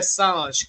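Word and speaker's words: Sage: It's Pierre Saj. It's spelled S A G E.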